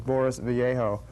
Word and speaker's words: Boris Vallejo: one of which is, I'm pretty sure the pronunciation is Boris Vallejo.